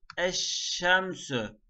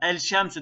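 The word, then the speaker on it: الشمس: Gameri harflerde lam okunur, şemsi harflerde okunmaz. Burada asıl olan şey okumadaki kolaylıktır. Okumaya çalışın. Mesela el şemsü demek biraz daha zorlar. Eccebelü demek el cebelü yerine zorlar. Dili tırmalar.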